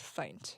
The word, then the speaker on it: Feindt: just throwing that out my last name is pronounced fight yeah I know but